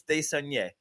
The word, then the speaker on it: Desnoyers: No, I think it's Desaunier. It's spelled Desnoyers, so I'm just gonna. Yes, but it's Desaunier.